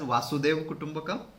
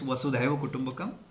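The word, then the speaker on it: Vasudhaiva Kutumbakam: of some of the people also mysicly pronounce it as wasu kutumbakam but that's not the correct it's was kumak the it it it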